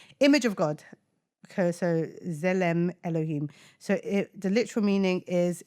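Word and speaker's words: צלם אלהים: But this is pronounced Tzelem Elohim. So you pronounce it as Zele Elohim. Yeah. Ooh, Zelem Elohim. Image of God. Okay, so Zelem Elohim.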